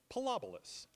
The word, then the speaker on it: Pilobolus: It's pronounced Pilobolus. Okay, and Pilobolus, indeed. Pilobolus has been around for such a long time,